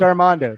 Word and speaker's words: Armando: It's pronounced Armando.